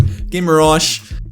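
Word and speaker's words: Guimarães: I think the last Newcastle video I did, I was pronouncing that something really weird, but Guimaraes, he was in that holding position with Joel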